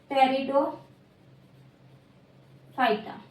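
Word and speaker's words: Pteridophyta: And second is टेरिडो। Phyta ठीक है P silent रहता है देन क्या बोलते हैं टेरिडोफाइटा ये हो गया हमारा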